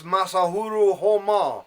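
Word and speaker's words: Masaharu Homma: of World War II sported honma's surname pronounced in this case masahuru Homa liberal PBS has a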